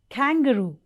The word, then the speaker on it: kangaroo: sound manaki hindi telugula like kangaroo kangaroo okay but that's wrong so the right pronunciation of this word is kangaroo k kangaroo okay so please follow me